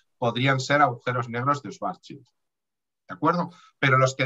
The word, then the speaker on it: Schwarzschild: El primero sería el agujero negro de Schwarzschild, como se pronuncia en alemán.